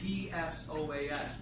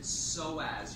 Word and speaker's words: psoas: It's spelled P-S-O-A-S, but you pronounce it psoas. You don't pronounce the P, right? You gotta spell it, but you don't pronounce it. So we just say psoas, psoas major muscle.